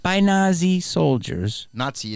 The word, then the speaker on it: Nazi: not by Nazi soldiers Nazi is the pronunciation Nazi I just know t in it okay Jews were beaten